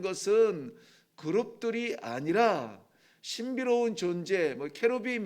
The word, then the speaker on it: 케루빔: 그룹들이 아니라 신비로운 존재 케루빔 이라고 하기도 하죠 영어 발음에서 채로 빔 이렇게 하는데요 뭐 천사들의 어